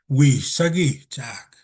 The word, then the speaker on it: Wisagi-Chak: The way she said it, his name was Wisagi-Chak. And she slowed it down and she emphasized those syllables to really let fluent